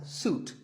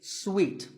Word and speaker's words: suite: in a hotel and this is wrongly pronounced by many people as suit but it's sweet like when you eat a piece of candy sweet and while we're on